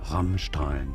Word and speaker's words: Rammstein: It's ST, but it's pronounced like CHT, rather Rammstein, so it'd be fine in English to say.